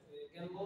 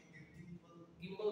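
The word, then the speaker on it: gimbal: কথার কথা, জাকারিয়া হচ্ছে জাকারিয়া নিয়ে আছে, গ্যাম্বল আছে, গ্যাম্বল এর প্রোনাউন্সিয়েশন গিম্বল না গ্যাম্বল, গিম্বল গিম্বল আছে, আর হচ্ছে একটা ওই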